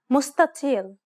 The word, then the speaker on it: مستطيل: The emphatic spreading of the dark letter causes the letters adjacent to it to sound deeper than normal. This is why the first consonant is pronounced dark instead of what is written.